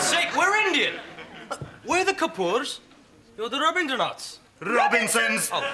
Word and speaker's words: Kapoor: So, how is Master Cooper these days? It's pronounced Kapoor, right?